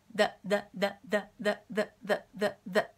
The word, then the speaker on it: the: で挟む形でザってやることはねほとんどないですうんザザザていう風に発音するってこはなくてもっと軽く下はもうちょっとね中に入った状でダダダダていう風にほとんど多分ね見えないと思いますダダダだだだだだこんな感じで発音することが多いですで例えばえ